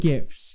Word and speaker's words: GIF: oh snap y'all just got served on the gift topic what else argument do you have for